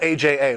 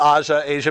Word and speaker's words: AJA: Yeah, it's really, they call it AJA, which I can't do. My Yeah. daughter's named Asia. Oh, really? Yeah, I call it Aja, but they'll say at their booth, AJA. I'm not doing 3 syllables for.